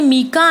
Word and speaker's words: mica: Minerals such as coal, iron ore, manganese and mica are found in the peninsular plateau. इसे various person से mica and mica. So इसके दोनों ही pronunciation है, आप इसे mica भी कह सकते हैं और mica भी कह सकते हैं, right?